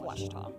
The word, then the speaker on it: Ouachita: Texas everybody pronounces it witch but really it's was was how would you pronounce it it's Baptist University get it right